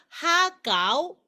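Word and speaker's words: 蝦餃: 그래서 이거는 새우가 하거든요. 하. 그리고 가우는 만두라는 소리입니다. 하가우입니다. 그래서 하가우 이렇게 표현을 합니다.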